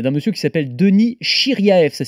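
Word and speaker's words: Shiryaev: conseille la chaîne d'un monsieur qui s'appelle Denis chiriae ça s'écrit s h i r y a e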